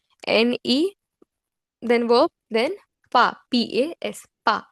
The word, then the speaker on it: pas: Ne, then verb, then pas, P-A-S, pas. We do not pronounce the last consonant in French, so I am pronouncing it as pas, P-A-S.